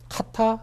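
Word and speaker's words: Kata: 예, 그래서 보안성을 향상시킨 뭐 컨테이너라고 얘기하는데 이 뭐 카타 내지는 뭐 카라라고도 이제 발음을 네네. 하더라고요. 그래서 미국 사람들 카라라고 보통 이제 발음을 하는데 이게 카라라고 하는 단어가 어디서 왔나라고 이제 찾아봤더니 네.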